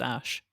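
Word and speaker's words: Æ: I mean, AE apparently is pronounced Ash.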